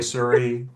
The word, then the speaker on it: Suhre: So, um again, my name is Sururi. Uh that's how you pronounce my strange last name. It's German, of course.